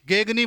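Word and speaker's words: Gagné: पढ़ा जाता है रॉबर्ट गेने। अब देखो रॉबर्ट गेने या इसकी स्पेलिंग जब देखते हैं तो GAGNE, गेगनी बोला जाता है, तो गेने बोल दीजिए या गेगनी।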